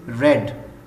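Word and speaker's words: read: है a book is रेड रीड की third form जो है वो रेड है स्पेलिंग सेम है फर्स्ट सेकंड और थर्ड फॉर्म के स्पेलिंग सेम है सिर्फ प्रोनंसिएशन में डिफरेंस है तो ही की ही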